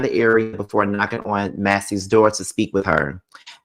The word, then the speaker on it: Massey: the same exact way is it Sonia Macy or Massie please tell me if I'm saying it right I think it's Massie okay I so it's Massie okay so Sonia Massie